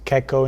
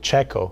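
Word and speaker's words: Checco: he came out as keko in Italy but you know when I was coming to the United States we sent we were sending emails to each other with the family that was hosting me and I they they pronounced it czecho so when I came here everybody was calling me czecho and it just was too late to tell everybody was wrong so I just kept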